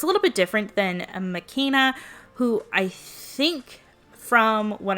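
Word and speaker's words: McKenna: Okay, so according to the American Girl YouTube channel, it's pronounced makena. So I'm going to pronounce it like that for the rest of the video. But I think that Isabelle and makena are similar, that they're both fashion designers and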